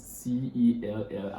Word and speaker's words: cell: If I ask a question now, why will you pronounce C-E-L-L as cell instead of Kel?